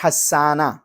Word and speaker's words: حسانہ: نام ہے وہ ہے حسانہ۔ حسانہ، ہا کے زبر اور سین کے اوپر شد، اس کے ساتھ اس کا تلفظ ہوتا ہے، اور حسانہ کا مطلب